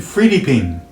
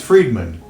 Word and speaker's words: Friedman: They would call me, it was called Sergeant Friediping, and my name is Friedman.